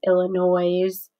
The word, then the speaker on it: Illinois: The black-haired boy asked, making the last part of the word rhyme with noise, Illinois.